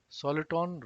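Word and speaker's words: soliton: a particle and hence soluton rhymes with electron concentrated thought hologram is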